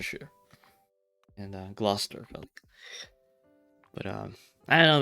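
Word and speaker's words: Gloucester: that are like spelled differently um when but pronounced also like differently or like Lester and Worster sure and glester but um I don't know man I don't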